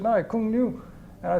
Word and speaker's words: Cuong Nhu: I couldn't even pronounce it. And they said, no, Cuong Nhu.